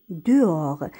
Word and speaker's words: dehors: elle est dehors. هنا le h ما كيتنطقش و s ما كيتنطقش فقط كنقراو d e de o r or dehors.